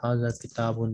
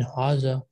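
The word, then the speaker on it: هذا: the pronunciation that in haza there is an extra alif between ha and zhal which is pronounced but not written so this is a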